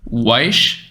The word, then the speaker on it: Weische: do you say your last name man Carl weish yeah nice Carl wise so welcome I'm really excited to have you